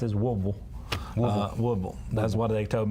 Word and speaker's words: Woodville: Guy called in and said, "Hey, bro, you're mispronouncing this Woodville." Woodville.